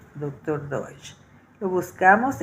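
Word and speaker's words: Doidge: Y lo escribió el doctor Doh. Se escribe D O i D g e doctor doch.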